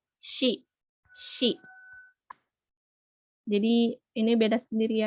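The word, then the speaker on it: し: sih Nah ini kalau si kalau di romajikan kalau di apa pakai huruf romaji atau abjad itu isinya bukan si tapi Shi si jadi ini beda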